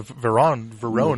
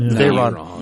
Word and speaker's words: Veyron: Verone. The Veyron. Veyron. No. Veyron is the bad guy from Fast and Furious. Well, Jesus. Well, the English pronounce it Verone, so I wanted to be fancy.